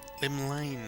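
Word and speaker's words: Llymlaen: Limlane, that's how it's pronounced.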